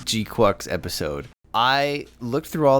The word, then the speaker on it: GQuuuuuuX: Isaac so I don't know I first said g quux and then all the comments a month ago got me saying G quacks and now after actually seeing the film I